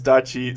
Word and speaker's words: Dachi: Every time you say Adachi, I'm like, what? And then I realize you're not talking about me. My real name is Dachi. Sounds exactly how you say it, but without the A.